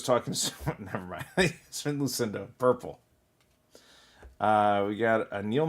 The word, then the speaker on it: Yasmin Lucindo: Yasmin Lucindo, purple.